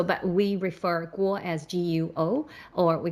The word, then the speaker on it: Guo: guo as qua because that's how they phonetically pronounced so but we refer guo as guo or we call him miles or seventh brother